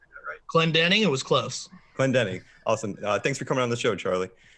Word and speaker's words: Clendening: Is that am I pronouncing that right? Clendening, it was close. Clendening.